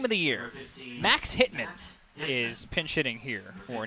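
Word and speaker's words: Whitman: i was gonna say can we put the emphasis on hit man make it make sure you really emphasize both syllables in his last name i'm pinching here for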